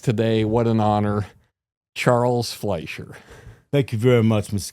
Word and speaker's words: Fleischer: Fletcher, Lucha, Fleachacha, Lalapacha, lalala, Lutangalatchpochi, but Fleischer is correct. F l e i e i is an i sound. I e is a different sound, like a ray It's